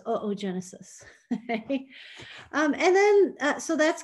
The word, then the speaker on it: oogenesis: It's not pronounced oogenesis though, it's oogenesis.